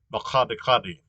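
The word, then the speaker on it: Makgadikgadi: Well, it's not unusual for Southern Africa, but so this is pronounced Makadikadi, and so that the G is pronounced H. Um, and where it gets that actually is that's how G is pronounced in Afrikaans.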